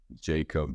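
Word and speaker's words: Jakob: How do you pronounce his name? Jacob? Yeah, like Jacob, what, yeah.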